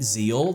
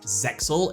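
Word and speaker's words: ZEXAL: name they called it Zeal they use the X as silent however it's not silent it is pronounced zexel it's said differently in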